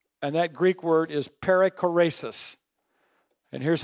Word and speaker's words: perichoresis: And that Greek word is perichoresis. And here's how you spell it.